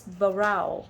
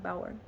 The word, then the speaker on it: Bauer: Maurice Barrow. I don't know them. He's a scholar. Bauer. I'm sorry, I said it wrong. Bauer. I don't want anyone to write in. You said his name wrong.